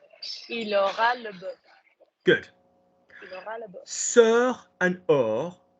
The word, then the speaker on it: aura: The future block for the verb to have is or. Or. Oh. Yeah? Like Luke or Brooklyn, but or. How do you say he will have? Il aura.